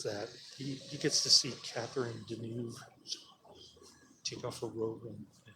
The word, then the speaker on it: Catherine Deneuve: stuff in this movie is off the camera Catherine Deneuve that's how you pronounce her name she likes playing around with